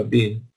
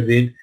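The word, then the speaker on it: בִּן: También fue llamado Bin, que se escribe como Ben, pero hay una Hirit, una Yud, una vocal I, para que se produzca Bin, para que se pronuncia Bin, que viene de Binyan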